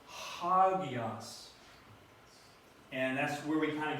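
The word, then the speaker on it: ἅγιος: it akuo I hear the rough breathing has an H sound to it so it's not it's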